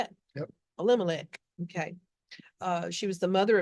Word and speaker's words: Elimelech: Elimelech.